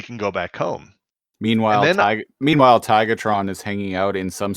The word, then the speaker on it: Tigatron: We need to let Tigatron know that we're leaving." Yeah, Optimus is Tigertron again, and I'm like, dude, it's Tigatron. Even the fucking closed caption says Tigatron.